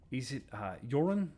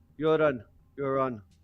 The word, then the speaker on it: Yuron: Welcome to, is it Yuron? Is that how it's pronounced? Yeah, and your tongue, fine. You're on.